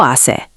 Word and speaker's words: hace: One of the most important weather phrases is Hace calor. It's hot. Repeat after me. Hace calor. Pronunciation help. Hace sounds like "ah-say".